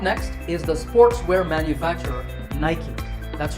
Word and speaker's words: Nike: correct way to say the company's name is Nike. Another sportswear manufacturer whose name is commonly mispronounced is Adidas.